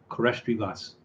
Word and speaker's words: koresht rivas: Rhubarb is rivas in Farsi, and stew is koresht. So it is pronounced koresht rivas.